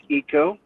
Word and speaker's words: Aiko: It's pronounced Eco, and a very happy birthday.